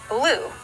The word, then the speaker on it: blue: Looks like this is an open syllable, so the U is going to be a long sound. B, O, U. Blue. That's the word blue.